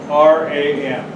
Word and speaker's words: Vibram: VIBRAM. V is in Victor. Yes. She was mispronouncing.